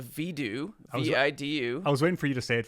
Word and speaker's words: Vidu: that, and it's called Vidu, V-I-D-U. I was waiting for you to say it first. Okay. I was like, Vidu? Video? Voodoo? I'm calling it here. It's Vidu, and everyone argue with me in the comments about it.